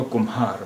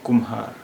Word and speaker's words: कुम्हार: अब कुम्हार को भी हम दो तरह से प्रोनाउंस करते हैं, दो तरह से इसका उच्चारण करते हैं। एक तो कुम्हार, महा, महा, और एक कुम्हार, कुम्हार, यानी माँ और हा की अलग अलग आवाज़ हैं।